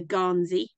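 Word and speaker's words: gansey: regional pronunciation because actually I think the word ganzi comes from the the um Norwegian word g meaning Yar it's where we get our word yarn from so it's a ganzi but if you say that in a Scottish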